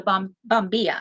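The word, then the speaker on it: bombilla: him something called a bom bomia I think is how you pronounce it and what it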